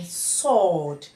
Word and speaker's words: sword: that is it is not produced so we pronounce it as Sam some moving on to s w as in Sword this means that the W is silence and